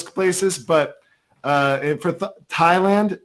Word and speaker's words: Thailand: um yeah so anyways it's pronounced thailand as opposed to what president trump pronounces it as thailand oh god yeah well